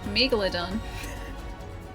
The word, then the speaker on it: Megalodon: That is the correct way to pronounce Megalodon.